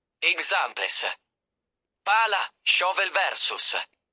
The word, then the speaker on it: pala: When pronouncing a double consonant, pause briefly before it, hold the consonant sound slightly longer, and stress it more strongly than the surrounding vowels. Examples. Pala, shovel versus palla, ball.